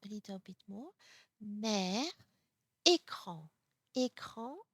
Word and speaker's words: écran: So, E with accent aigu, et E without accents. So it's very important when you see a word, is it a accent aigu, and then you have to pronounce a, but if you don't see an accent on it, you have to pronounce it e, e.